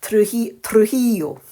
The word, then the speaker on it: Trujillo: And I've got the pronunciation now of his name, because if you saw my unboxing, I really struggled. But I have it down to a T now, Trujillo.